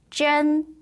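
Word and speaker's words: 针: 마지막은요. 쩐 이라고 발음을 하고요.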